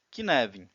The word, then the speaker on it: Cynefin: na tomada de decisões que neve uma palavra galiza que significa habitat ea pronúncia mais próxima em português seria que neve vamos construir o flamengo